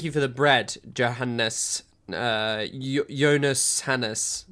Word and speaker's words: Johannes: Jonas Hannes, not Johannes.